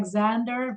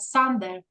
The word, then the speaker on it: Sander: what not Z Xander like Americans say it like Xander but sander right sander yeah yeah yeah